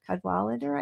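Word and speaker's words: Cadwalladr: Cadwalader I think is how how you pronounce her last name.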